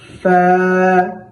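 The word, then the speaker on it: فاء: গাইন আবার গাইন এমনও যেন না হয় গাইন ফা ফা আমরা প্রথম হরফের মধ্যে অর্থাৎ আলিফের মধ্যে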